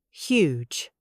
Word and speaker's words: huge: First, huge. H U G E. The H is soft but present.